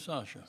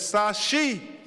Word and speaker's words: Shashi: Your name is Sasha. Her name is Shashi State Farm.